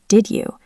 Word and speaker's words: did you: Let's take the question did you? Did ends with D. U starts with Y. When D and Y touch, they turn into a J sound like jump.